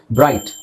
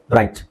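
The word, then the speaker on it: bright: ಹೇಳಲ್ಲ ಏಟ್ ಜಿಎಚ್ ಹೇಳಲ್ಲ ಬ್ರೈಟ್ ಜಿಎಚ್ ಇಲ್ಲ ಜಿಎಚ್ ಸೈಲೆಂಟ್ ಮಾಡ್ತೀವಿ ಬ್ರ ಐಟ್ ಬ್ರೈಟ್ ಐಜಿಎಚ್ ಬಂದಾಗ ಐ ಅಂತಾನೆ ಉಚ್ಚಾರಣೆ ಮಾಡಬೇಕು ಸೊ ಹಾಗೆ ಫ್ರೈಟ್ ಹೈಟ್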